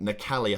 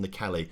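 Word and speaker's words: Nwakali: I can't really say his surname very well, but Nakali, I think, is maybe how you say it.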